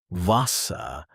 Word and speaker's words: Wasser: Try tag house kind clear sharp finished German usually stresses the first syllable. Not always, but often. For example, Wasser not Wasser Wasser Try Wasser another arbeiten arbeiten not arbeiten This rhythm helps you sound natural.